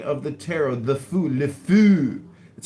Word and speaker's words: le fou: The fou, le fou.